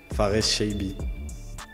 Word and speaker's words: Farès Chaibi: Sag uns doch zu Beginn einmal, wie wird dein Name richtig ausgesprochen? Faris Chaibi.